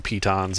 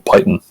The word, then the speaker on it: piton: we put down some pitons on the door to stop them from being opened. Is that really how you say it? I've been saying Python. Apparently it's French.